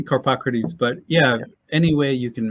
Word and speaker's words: Carpocrates: Yeah, I say Carpocrates, but any way you can manage it, it's a tough one.